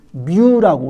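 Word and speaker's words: μ: 글자에 이 표시가 우리가 영어로 하면은 MU, 뮤라고 우리가 발음을 하게 됩니다.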